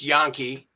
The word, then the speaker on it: Janke: So Yankee, Janke, it's pronounced Yankee, and he has a brother that also plays.